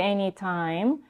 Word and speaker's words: anytime: She says anytime. We have aspirated t in the beginning of words, but also in the beginning of stressed syllables. And in this case, it's time, anytime.